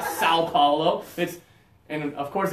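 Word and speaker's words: São Paulo: so so so Paulo where you have to go through your nose and Americans we don't have that in English we don't have the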